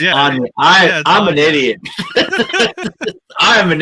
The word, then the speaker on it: Anya Taylor-Joy: It's not Anna Taylor-Joy. It's Anya.